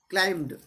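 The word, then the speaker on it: climb: क्लाइंब में जो है दोस्तों, इसमें क्लाइम्ड यानी बी साइलेंट रहेगा इसमें।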